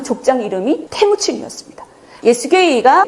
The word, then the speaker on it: 예수게이: 근데 발음할 때 조심하셔야 됩니다. 붙여서 발음하셔야 돼요. 떨어져서 발음을 하시면 기독교인들한테 오해를 받을 수가 있습니다. 따라해보세요. 예수게이.